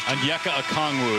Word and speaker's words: Onyeka Okongwu: And his Onyeka Okongwu is how you say it. He actually pronounced it for you, and you still can't remember.